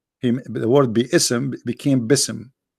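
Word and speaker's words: بسم: Yet Allah he do not know how to pronounce the word Bism. The word Bi-ism became Bism. In Arabic, we don't have bism, we have bi'ism.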